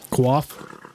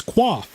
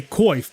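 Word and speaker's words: coif: I guess we'll wait qua that's actually the way that it's pronounced like it's a I think it originates as a French word and that is the actual pronunciation of it is qua and a lot of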